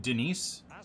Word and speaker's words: Dennis: ambape for a half dennis is passing fantastic but dribbling is awful he feels like i'm trying to move a cinderblock on the field it's pronounced denise do you mean it's pronounced d nice and now the second